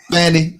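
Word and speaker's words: Fani: see what's happening to Fanny hey what's the name Fanny I guess the true Annunciation pronunciation is fan Willis but I call her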